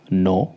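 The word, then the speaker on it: know: अगला अल्फाबेट है हमारा के एन से पहले आया के साइलेंट रहता है जैसे नो के एन ओ डब् मतलब जानना भले ये के से स्टार्ट हो रहा है बट के यहां पे साइलेंट है तो हम के एन ओडल को नो बोलते हैं उसी प्रकार नॉट नाइफ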